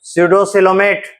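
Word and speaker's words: pseudocoelomate: उसके बाद coelom, PAC होगा, P साइलेंट रहता है। स्यूडोसिलोमेट, रीजन क्या है?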